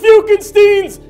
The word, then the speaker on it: Fiukenstein: welcome to Dr fuken Stein it's pronounced fuken Stein's laboratory where we reanimate the dead teams and